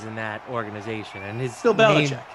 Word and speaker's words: Belichick: If anything, we know who the cheater is in that organization, and Bill Belichick. His name rhymes with Will Schmelichek.